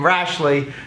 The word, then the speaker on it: Rashley: I just met the guy and I was focusing on his last name, Rashley, Jay Rashley. Rhymes with Ashley.